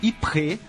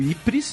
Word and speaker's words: Ypres: A primeira trégua começou na região de Ypres, ou Ypres, né? Eu dei a pronúncia pedante.